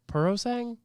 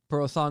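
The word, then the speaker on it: Purosangue: Persang? Persang. Copy and paste it into Google. Like how to pronounce. Like just. Hold on, I got you. Oh, here we go. There's a whole fucking thing. Puro-san. Puro-sangue.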